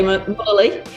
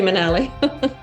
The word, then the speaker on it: Munnelly: Some people say Munnelly. We say Munnelly.